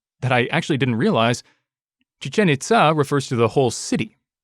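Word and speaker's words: Chichén Itzá: It's spelled Itza, but I'm pretty sure it's pronounced Itza. Chichen Itza. I'm pretty sure that's the right pronunciation. It has accents over the E and the A, so it looks like you're supposed to stress those syllables, if I remember my university Spanish classes.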